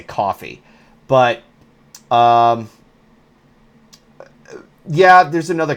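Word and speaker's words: Ko-fi: starting a Kofi um I pronounce it as Kofi because I know that it wants me to say coffee but um yeah there's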